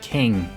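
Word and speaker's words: Kueng: Officers J. Alexander Kung and Thomas Lane. That's J. Alexander King.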